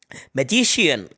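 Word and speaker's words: magician: तो यदि किसी वर्ड में सी के बाद आई और ए आया हो, आई के जस्ट बाद ए यानी आई ए आया हो, तब सी का प्रोनाउंसिएशन शा होता है। क्या होता है? शा।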